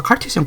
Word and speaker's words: Cartesian: 여기가 이제 데카르트인데 이게 이제 데카르티슨이라고 발음하기가 어려워서 칼티슨 코디네이트라고 영어로는 이렇게 발음을 하는데 그냥 이제 좌표를 찍는 걸 얘기하는 겁니다.